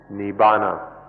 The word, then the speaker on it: Nibbana: called Nippon int I navona in the Pali language and Nirvana in Sanskrit it's one word by these pronounce or has different forms in the different languages Nibbana and essentially nee Bona